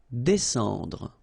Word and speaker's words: descendre: Descendre. Well, even if you've got this combination of S and C here, you just pronounce it S. Descendre.